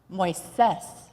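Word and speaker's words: Moisés: I wondered if the name we had given him, Moises, which is the Spanish pronunciation for Moses, was too big a name for him, considering how small a person he seemed to be.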